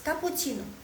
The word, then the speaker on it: cappuccino: besi tapi latih next kapucino cappuccino gimana l cara bacanya pu eh coba dengar baik-baik soalnya kucin agak panjang ya Ka pu Ci no cappuccino ka pu Ci no